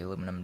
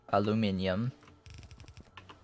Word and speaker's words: aluminium: While I'm up here, I may as well bring the aluminum down. Aluminium. Additional steel is required. Aluminium. I think that's closer to the actual correct pronunciation.